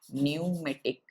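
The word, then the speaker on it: pneumatic: किसे कहा जाता है न्यूमेटिक प साइलेंट होगा मेटिक बोनस किसे कहा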